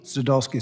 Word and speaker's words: Sadulski: My last name, Burkeen, is often mispronounced. So I'm going to do my best here. Sadulski? Sadulski, sir.